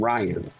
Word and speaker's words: Ryon: yeah it's actually spell I know but yeah it's pronounced Ryan but yeah C start